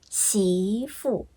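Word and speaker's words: 媳妇: 然后再加一个声调，媳妇，媳妇是二声、四声。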